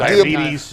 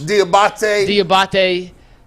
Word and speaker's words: Diabate: You have Anthony Walker Jr., JOK, Taki, Jordan Kanasic, Mama, I say his name wrong. Diabetes. Diabate.